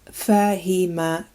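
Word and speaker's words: فهم: This word is pronounced fahima, fahima, and it means to understand.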